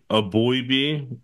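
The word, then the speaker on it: Eboigbe: Justin a a boy a boyb I believe it's so a boy B from Alabama I apologize um but because the g is silent if I remember correctly on that one so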